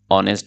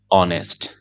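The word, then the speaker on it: honest: ম্যান হি ইজ অ্যান অনেস্ট ম্যান ইংরেজিতে এরকম কিছু শব্দ আছে যেই শব্দের প্রথম বর্ণটি এইচ কিন্তু নেটিভ স্পিকাররা এইচ উচ্চারণ করেন না বরং তার পরের বর্ণ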